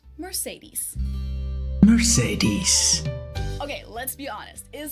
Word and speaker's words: Mercedes: Now under the name Mercedes, or in English also often pronounced Mercedes. Mercedes.